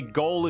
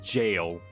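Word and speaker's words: Gaol: be recognized after my shameful conduct also apparently goal is pronounced pronounced jail people have said that to me several times and i said that during necro hunt but i'm going to say goal because that's how it's spelled and english is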